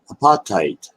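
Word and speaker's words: apatite: the same but it's a pot tight I think it's how it's pronounced APA TI te and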